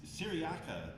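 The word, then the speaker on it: Cyriaca: Yeah, Syriaca, before, right, that's how you pronounce that name, before he releases her, tells the story of the machines, Yeah.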